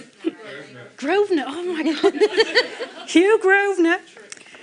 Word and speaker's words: Grosvenor: Did I pronounce that one right? Grosvenor, oh my God.